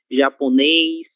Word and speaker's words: japonês: Letra E, acentuada com o acento circunflexo, seguida da consoante S. Ele sempre terá esse som eis, certo? Português, inglês, japonês, francês, ok?